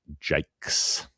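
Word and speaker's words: Jaques: 395 is the cap number of one Philip Jakes or at least that's how we decided to pronounce it in Australia when I suppose it would have been a Jacqu at some point unless you're South African and then it would be JS and who knows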